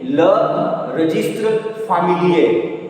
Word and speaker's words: le registre familier: How you pronounce? Le register familier. Le registre familier.